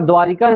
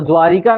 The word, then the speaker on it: द्वारका: यहाँ पर द्वारिका सुने हैं, द्वारिका गए भी होंगे, सुने हैं, तो द्वारिका नहीं होता है, क्या होता है, द्वारका, बोल देते द्वारका, क्या होगा, द्वारका।